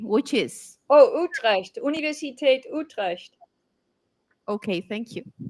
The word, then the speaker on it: Utrecht: Oh, Utrecht, Universiteit Utrecht.